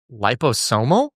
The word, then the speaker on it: liposomal: He was telling me about lip, how would you pronounce that first word? Liposomal.